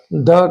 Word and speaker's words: the: ठीक है, तो ये जो है यहाँ पर द का यूज द होगा, द चाइनीज।